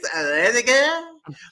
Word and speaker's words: Rediger: I have to say it like this, Rediger.